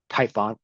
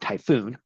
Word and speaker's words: Typhon: But it does detail that it was uh the hydra itself was the offspring of the giant surfit serpent Tython that's typhon not typhoon and a halfwoman half